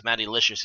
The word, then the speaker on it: Mattylishus: I guess Mattylishus as it's supposed to be pronounced.